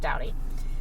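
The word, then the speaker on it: Staudte: kind of a strange spelling um but it's pronounced dowdy so um he was 61.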